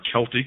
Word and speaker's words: Celtic: sumerian babylonian assyrian egyptian celtic are celtic some pronounce it aryan etc and with